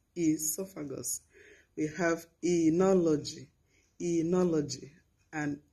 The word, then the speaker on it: esophagus: edema not oedema edema we have esophagus esophagus not o esophagus esophagus we have enology enology